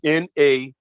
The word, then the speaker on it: nahnu: Now, in that particular word, that pronoun, that H is what we call an aspirant H. And an aspirant H means that when you pronounce it, you let air come out like this.